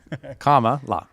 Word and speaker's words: Kamala: Kamala? Like Comma? Like comma? Camelot? Like a Kamala? comma, la.